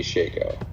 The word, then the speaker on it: Shako: I call it a Shico.